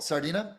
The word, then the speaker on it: Sardinia: Sardinia. Okay. I just want to make sure I'm pronouncing it right.